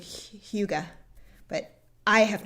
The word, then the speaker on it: hygge: h.y g g e i think it's similar to like the english word hug but it's i think it's pronounced like huga but i have not